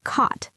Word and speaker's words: caught: And reading helps you see the correct spelling because sometimes the pronunciation is tricky too like but you don't pronounce the gh or caught.